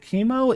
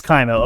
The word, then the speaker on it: Kaimo: right all righty congratulations is it chemo is it kaimo i feel i know it is kaimo okay so then i